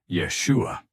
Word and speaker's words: Yeshua: Charlotte played the recording, the part where Elon said, Yeshua. The pronunciation is correct, Hart said. What? Charlotte asked. Many people mispronounce it, Hart replied. But here, the stress is right.